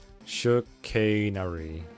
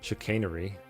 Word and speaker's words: chicanery: We're gonna pretend to know about Breaking Bad if you can't pronounce chickenry. I guess the jig is up there. Chicanery. Chicanery. Alright, thank you.